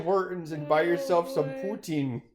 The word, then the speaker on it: poutine: those to Tim Hortons and buy yourself some poutine Putin Tim Hortons all five people watching this video how do we pronounce that word what word I think that's